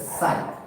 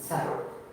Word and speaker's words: psi: That word is psi, where P will be silent. So psi. Some students they will tell psi, psi. Not like that. P is silent, psi.